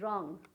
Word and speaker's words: wrong: यहाँ देख लीजिए रिंकल, W क्या हुआ, साइलेंट हो गया, रिंकल सुनाई दे रहा है ना। उसी तरह से WRONG, रॉन्ग, opposite of right.